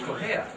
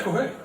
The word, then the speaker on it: Correia: My last name is actually pronounced much differently where it comes from. It's Portuguese, but when I hit Ellis Island, my grandpa was like, it's Correia.